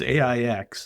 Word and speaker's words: Aix: So the genus name is Aex. Is is that how you say it John? A I would never correct anybody. It's AIX is is all it is and